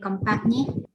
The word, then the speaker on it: compagnie: Ici, je ne prononce pas le G. Compagnie. Et je ne prononce pas le O.